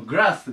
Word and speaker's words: グラス: ま、 56 、ま、 R と L が違うんですけど、ま、基本的にはグラスと言います。ま、 L の発音ちょっとね、あの、変わったりしますけど。で、こっちの R の方のグラスが草です。